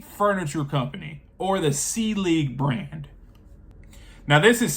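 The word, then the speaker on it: Selig: Brand number 1 is the C League Furniture Company, or the C League brand. Now this is spelt for all my, English people out there, and just for anyone.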